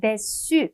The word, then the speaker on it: déçu: déçu, 우리 cdu 때문에 déçu라고 발음이 될 건데요. 여성형은요, 철자를 을을 붙여주기는 해요. 하지만 발음은 동일합니다.